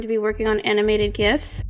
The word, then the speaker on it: GIF: Today we're going to be working on animated GIFs. I'm sorry for anybody who pronounces it GIF. I pronounce it GIF.